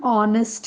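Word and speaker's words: honest: the third वन एन ऑनेस्ट मैन the word begins with H एच इज a consonant but here H इ silent and the sounding is like a वल ऑ there for वी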